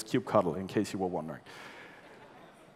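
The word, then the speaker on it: kubectl: is for everyone everywhere no matter how you pronounce these clis and it's cube cuddle in case you were wondering so we've got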